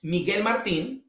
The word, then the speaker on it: Miguel Martin: it has my name which you have to pronounce it in spanish miguel martin but what follows is